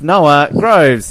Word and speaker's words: Noah Groves: His name rhymes with Boves and Snower. It's Noah Groves.